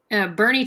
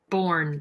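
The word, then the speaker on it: Boerne: that where we're going Bernie Texas Bernie just felt spot weird looks like born born Texas I said it wrong forever till I was told I mean Texas there's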